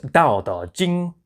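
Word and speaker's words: Dao De Jing: Plain T in the Wade-Giles system represented a D sound.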